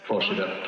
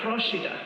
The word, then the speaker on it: Procida: one in the Bay of Naples, which is pronounced Procida. Procida.